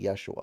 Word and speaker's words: Yeshua: By the way, his name isn't actually Jesus, it's actually Yeshua. That's how it's Oh yeah, pronounced back I've then.